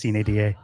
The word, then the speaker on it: sine die: Officially, sure, if you want to say it like that. It's Latin, it's Sine Die.